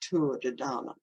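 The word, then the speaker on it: Tuatha Dé Danann: code including the ancient Gaelic culture known as a tour of the dhana it's spelled t-u-i-t-h-a but an Irish friend the other day told me to pronounce Tour de Dana which are connected with the Davis or nature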